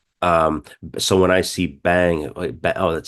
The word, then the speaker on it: vem: a word that says that's spelled vem I'm going to say bang bang and so on so